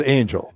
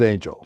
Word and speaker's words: Anglea: your last name yeah it is Angel even though it looks like it should be pronounced differently it is Angel it is Angel we're we're very poor spellers